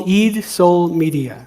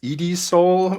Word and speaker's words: Eid Soul Media: It's called Eid Soul Media. So it's phonetically it's EED, and soul is based on the sun, and Mhm. then media or games, right? Eat Soul Games. Eat Soul Media is like the parent of Eat Soul Games, but yeah. So that's how it's pronounced.